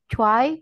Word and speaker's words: zwei: Sedikit kesalahan pengucapan pada angka 2 dan 9. Untuk angka 2, cuai.